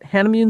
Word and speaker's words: Hanimune: We're talking with Meenal LeLe, the CEO and founder of, is it Hanimune? Is that how you say it? Hanimune Therapeutics.